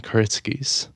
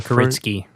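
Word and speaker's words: Kuritzkes: Um, written by Justin Kuritzkies. Actually, the Kuritzky. Oh, sorry. No, no s at the end. Yeah, it's like the Polish pronunciation of it.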